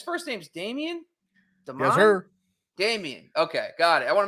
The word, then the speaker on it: Dameon: Dameon.